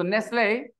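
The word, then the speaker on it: Nestlé: they have this so Nestle okay think of it if you have e at the end of a word in English that e doesn't have a sound f-i-n-e fine t t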